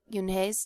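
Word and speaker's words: Unhei: ooh ooh un some kids chanted no no Yun corrected it spelled u n he e r I it's pronounced Yun oh it's you he the boy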